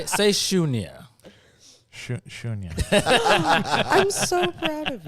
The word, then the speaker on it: Sunya: Real quick, say Shunya.